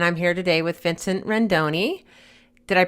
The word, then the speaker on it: Rendoni: I'm here today with Vincent Rendoni. Did I pronounce that right?